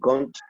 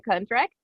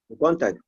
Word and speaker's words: contract: five they sent the cont to my my email okay the contract one more time the contract contract contract with letter r like the document the